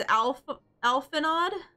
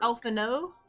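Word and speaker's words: Alphinaud: Alphano? Alphano? Okay. Okay. Take it. We'll take it. I guess the D is silent type thing.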